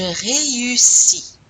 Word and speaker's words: réussis: You have to pronounce the E and the U separately. E-U. Répétez. Je réussis.